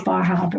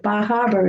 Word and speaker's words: Bar Harbor: ogunquit as well as bar harbor because see i pronounced my ah that time very good um because um